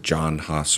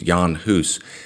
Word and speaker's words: Jan Hus: video on Jan hoose sometimes people pronounce it John Haas or John Huss it's Yan Huss he was a Bohemian